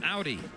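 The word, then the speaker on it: Auður: name and this is Icelandic a du R pronounced Audi challenge there Amon in the middle coming out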